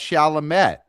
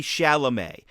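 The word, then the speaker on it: Chalamet: As a Mets fan, I my inclination might be, "Oh, that's Shalamett."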